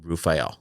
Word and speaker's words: Raphael: i also know that raphael is an archangel of healing and he talks about healing and so i think it was the archangel but he pronounced his name to me rafael now i'm also gonna